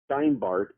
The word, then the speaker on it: Steinbart: Steinbart, as in the root word Stein, German Stein, like stone, and Bart, like Bart Simpson, if you will.